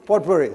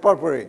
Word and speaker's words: potpourri: never spoken before so i asked my daughter to be knife her is beneficial here how to pronounce it so pot worry so she said she said potpourri okay and what i'm